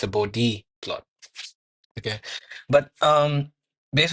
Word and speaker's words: Bode: we should always correct anyone who calls it bod plots because the person Bodhi studied at the Ohio State he made such